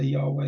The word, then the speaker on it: Yahweh: Whether you want to how you want to pronounce it, the init h some say Yhovah, some say Yahweh and so on.